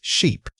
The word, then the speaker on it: sheep: The word is sheep. Say it again. Sheep. For this word, you need to stretch that e sound out fully.